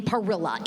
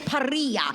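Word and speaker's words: Parrilla: need to know do do not say her last name Parilla it is paria you have to roll your RS and I said okay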